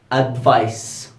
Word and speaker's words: advice: we pronounce it Z, and advice with C, that we pronounce it S.